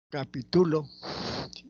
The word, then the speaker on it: capitulo: acá tenemos unos ejemplos leemos capítulo capitulo y capituló el acento se mueve capítulo laula que tiene un significado capitulo tiene otro significado el acento está en la penúltima sílaba y capitulo el asento está en la última sílaba y significa otra cosa entonces la ubicación del